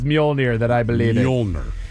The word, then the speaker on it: Mjolnir: I can't pronounce it. Lightning? Lightning. I like it. Starts with an M, right? Like Mojron? Mjolnir. What? Mjolnir.